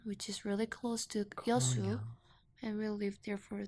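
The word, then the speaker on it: 여수: I'm from Yeosu. Yasu. Uh-huh. Yeosu. Yashu.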